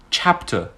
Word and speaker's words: chapter: Chapter. You can also hear that I say chap clearly more than t.